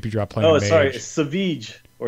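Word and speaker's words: Savjz: sorry, Saveech or Saveets.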